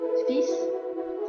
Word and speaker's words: fils: Ini pengecualian karena L-nya tidak dibunyikan, jadi langsung fils, anak laki-laki.